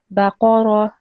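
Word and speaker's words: بقرة: Yeah, so just make sure that your ba, qaf, and ra are equally long. So the length of how long you pronounce each letter should be the same. So your qaf was slightly shorter. So it should be baqara.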